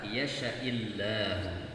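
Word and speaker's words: يشإ: May yasha'illahu. Ya, padahal sya-nya harus dibaca pendek.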